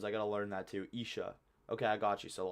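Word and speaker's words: عشاء: Isha, not Aisha. Yeah, I'm so bad with all the pronunciations. I gotta learn that too. Isha.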